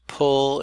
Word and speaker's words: pull: Notice pull is not spelled, tradspel, that would be pool. But the sound, as in wool, is predominant actually.